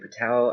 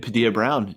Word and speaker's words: Padilla: William is his last name. William Patel. I feel like I'm mispronouncing. William Padilla Brown. Yeah. Padilla Brown. That's it. Not Patel.